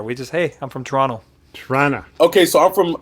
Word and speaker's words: Toronto: toronto it's just toronto you don't pronounce that last t it's an n toronto yeah that's how we